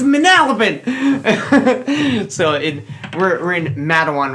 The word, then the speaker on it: Matawan: I think it's pronounced Matawan. Yeah, but yeah. Of course it is. Yeah. I've lived here my whole life. It's Matawan. Okay.